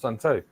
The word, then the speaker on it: Sun Tzu: As Sun Tzu said, actually pronounced Sun Tzu, win first and then go to war.